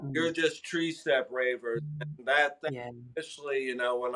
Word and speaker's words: TreeSteppRavers: the quick thing is, it is 3-step, but they say tree in Jamaica, so it's ultimately the number 3. But the way I spell it is tree. So Yeah. it is TreeStepp Ravers, Ravers, Ravers.